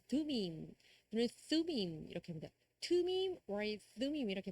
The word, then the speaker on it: Thummim: 투밈, or thummim 이렇게 발음하고요.